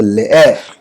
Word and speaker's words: leer: English में LEER को हम लोग लीर पढ़ते हैं, लेकिन स्पेनिश में ऐसा नहीं होता। इसका प्रोनाउंसिएशन कैसा है? ले एर, LE मतलब ले और ER मतलब एर, तो लेयर।